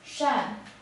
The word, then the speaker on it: 善: this character is pronounced as Shan Shan alone it's an adjective which means benevolent kind